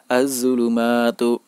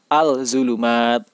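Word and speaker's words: الظلمات: Cara membaca huruf-huruf Shamsiyah adalah dengan tidak membaca huruf 'al'; Meskipun tertulis dengan jelas, pengucapannya tidak jelas , sehingga tidak tepat untuk membacanya sebagai 'al-zulumat'. Al-zulumat. Cara membacanya adalah 'az-zulumat'. Az-zulumat.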